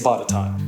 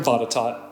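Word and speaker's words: Botetourt: the Hampton Roads region it's batat the name comes from Norborne Berkeley fourth Baron batot and yes I'm going to keep saying batot commonly known as Lord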